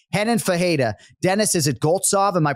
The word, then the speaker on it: Goltsov: Dennis, is it Goltsov? Am I pronouncing Dennis that? Goltsov.